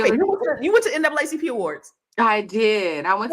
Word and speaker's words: NAACP: It's supposed to be NAACP. That's the proper way. Okay, got Yes, that's a proper way to say it. it. Okay. But we still was up in there like NAACP.